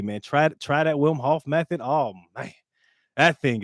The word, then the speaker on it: Wim Hof: is beautiful man uh w-i-m-h-o-f-f for those who um don't understand the pronunciation because I know I didn't understand it at first like well you know thought it was William but yeah man that